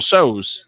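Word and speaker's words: Tso: This is General So's.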